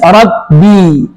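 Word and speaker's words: رَبِّ: Ro tebal, ba tipis, rabbi jangan sampai dibaca r. Jadi bnya tebal tapi rabbi rabbi ketemu lam.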